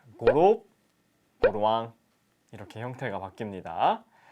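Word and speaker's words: гурав: 넥, 허열, 고롭, 두룹, 타옵. 네, 1부터 5까지 발음을 닉, 허열, 고롭, 두룹, 타옵 이렇게 얘기를 합니다.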